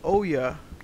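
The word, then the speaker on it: Ouya: you've seen the the the Oya um that's how to pronounce it you know Terra 3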